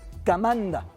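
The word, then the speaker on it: команда: Kamanda. Esa O lo puede confundir, ya se lo he dicho antes, la O cuando no va acentuada suena A, viene del argot militar, Kamanda.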